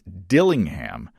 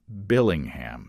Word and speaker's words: Dillingham: last name name wrong it's Dillingham not Billingham sorry about that Jeremiah